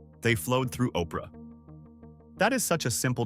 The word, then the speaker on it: Oprah: What she inherited was a name that was actually supposed to be Orpa from the Bible, but people kept pronouncing it Oprah.